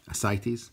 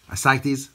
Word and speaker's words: ascites: cancel nature or something so it's ascites okay ascites ascites okay so we'll continue now